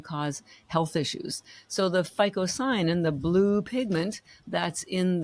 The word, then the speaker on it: phycocyanin: It's called phycocyanin. I'm going to spell that for you because you would never know about it.